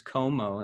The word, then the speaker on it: Comeaux: my name is my last name is komo that's how it's pronounced um the name of